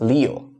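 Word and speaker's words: 六: You just read it as Leo like the zodiac Leo.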